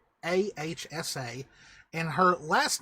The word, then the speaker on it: Ahsa: It's Ahsa. And her last name, I've still not really fully decided how it would be pronounced.